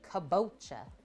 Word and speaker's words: kabocha: Yeah, you keep thinking I'm mispronouncing kombucha before I say squash. Kabocha, kombucha, kabocha.